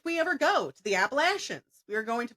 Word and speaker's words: Appalachian: But listen, if somebody tells me I'm pronouncing something wrong, especially if it's a heritage thing, it's Appalachian.